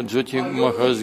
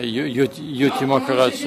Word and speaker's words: Йоти: Кто-то, например, Джоти Махарадж говорит, или правильно Йоти Махарадж, а не Джоти. Есть такое Джоти значит свет, а Йоти значит саньяси.